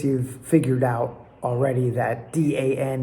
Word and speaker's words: dan: I guess you've figured out already that D-A-N is not Dan, as an American would say, but dan.